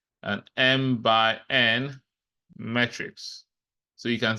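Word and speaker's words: m × n: say it as um M so said as M by n that's how you pronounce it so it's not M multi by n it means M by n and we use this to determine the order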